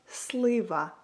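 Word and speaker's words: слива: So, if you want to say plum in Ukrainian, you would say it like slaver.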